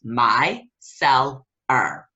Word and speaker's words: micellar: sensitive skin as well my seller again is pronounced my cell are micellar water so if you have